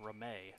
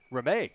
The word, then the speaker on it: Ramey: And being a Fairview guy, that is pronounced Ramey. Ramey. Yes.